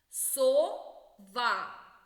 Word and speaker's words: сова: дятел перший склад наголошений сова другий склад наголошений ворона другий склад наголошений